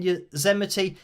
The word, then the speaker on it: Yosemite: Oh, Karen says there, the S in Yosemite is pronounced like an S, not Z.